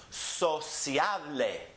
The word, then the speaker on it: sociable: It ends with the vowel, so it's the next to last syllable that gets emphasized. So we'll go up there on the middle. Sociable.